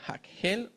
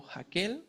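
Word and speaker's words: Hakhel: Tenemos el tema de Josué Jehoshua como sucesor de Moisés, la lectura pública de la Torá llamada el hakel o jaquel, como quiera hacer la pronunciación.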